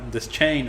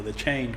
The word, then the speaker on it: Deschain: El pistolero, que se llama Roland Deschain o The Chain, como lo quieras pronunciar, empieza la novela, esta